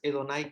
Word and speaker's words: Adonai: llamaba Adonai o edonay es más edonay que adonay solamente que con el pasar de los tiempos esa ae se convirtió en Ah pero en realidad era edonay aquí juega un papel